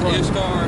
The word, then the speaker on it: Ishtar: Easter is Ishtar, or I can't, how do I pronounce it? Yeah, there's a few ways to say it. It's Ishtar, right.